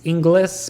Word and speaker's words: Inglis: It's Inglis, but you say it Ingles. You say it the right way, but it's spelled Inglis.